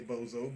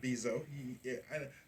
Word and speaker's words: Bezos: I say bozo, but Bezos.